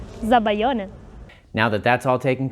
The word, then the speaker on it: Zabaglione: Okay, Ilaria, tell us how it's pronounced. Zabaglione.